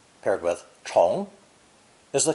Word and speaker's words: 虫: Pronounced second tone. 虫, 虫.